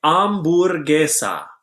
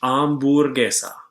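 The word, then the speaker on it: hamburguesa: as sandwich next say amber ogia remember not to pronounce the H amber Gaza next say pizza spell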